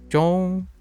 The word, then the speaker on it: 中: In Chinese, okay, Ong is pronounced with a closed O sound, with your lips tightly round. So, ong, close O. So, zhong, like zhong.